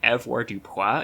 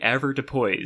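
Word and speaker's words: avoirdupois: and like I've been saying it like EV dup in my head this whole time because this is like the most French looking word so obviously it's going to be pronounced like that but no it's apparently usually a Depo so I don't want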